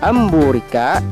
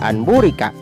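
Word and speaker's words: أَنْ بُورِكَ: bertemu dengan huruf ba cara membacanya dengan menyuarakan nun sukun atau tanwin menjadi suara mim dengan merapatkan dua bibir serta mendukung contoh yang nun sukun bertemu ba amburika tidak boleh dibaca and murica tetapi harus dibaca amburika yang tanwin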